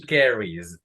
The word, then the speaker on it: carries: He carries. No pronunciamos la E porque antes la ES hay una vocal.